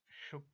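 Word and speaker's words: Ćuk: The actual pronunciation of this word is चुक converter.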